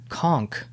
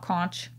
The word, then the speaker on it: conch: fine okay go ahead conch a conch shell not cronch not conch like they say on spongebob they do say conch they say conch the magic conch so no one caught